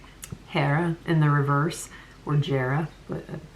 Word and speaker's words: Jera: Hera in the reverse or Jerara, but it's pronounced Hera. Not like Ron Burgundy with a soft J, but it's that's one pronunciation of it and that's the one that I know.